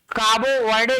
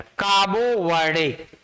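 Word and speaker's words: Cabo Verde: रहे हैं तो आपको, पहले हम लोग इसको प्रोनाउंसिएट करते थे केप वर्डे, केप वर्डे। इस विश्व कप में मात्र 5 लाख की जनसंख्या के इस देश को काबो वर्डे कह के संबोधित किया गया।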